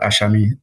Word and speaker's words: Asami: I should say it's it's spelled ASI but it sounds like there's an H there between the with the S so it's like aami T's so but listen